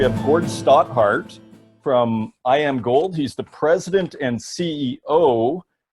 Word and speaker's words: Iamgold: genuine one and I'm wondering how do you pronounce I am gold am i pronouncing that correctly just like you